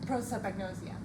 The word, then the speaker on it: prosopagnosia: Prosopagnosia.